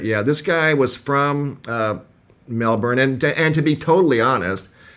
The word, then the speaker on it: Melbourne: No, he wasn't born in Melbourne. He moved to Melbourne, but he said everybody pronounced it Melbourne.